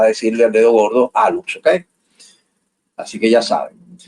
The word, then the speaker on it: hallux: Se escribe hallux, ¿verdad?